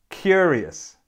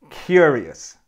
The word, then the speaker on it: curious: has three syllables and the correct way to pronounce it is to have the stress on the first syllable so it sounds like this curious curious and there's a